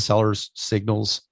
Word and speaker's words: Sellers Signals: We're going to dive into Sellers Signals. That extra S throws me when I pronounce it, Sellers Signals.